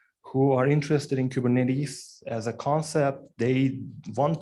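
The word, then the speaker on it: κυβερνήτης: if you will so if you pronounce this in Greek it would be kubernetes why does it have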